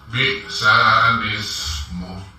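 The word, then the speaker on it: بِئْسَ الِاسْمُ: Namun karena di sini ada naqol yang terjadi, ya, maka kita balik lamnya yang hidup, alifnya yang sukun. Maka cara membacanya yaitu bi'sal ismu, gitu. Sekali lagi bi'sal ismu, seperti itu ya.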